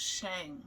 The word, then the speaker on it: Shang: Okay, it's Shang, not Shang.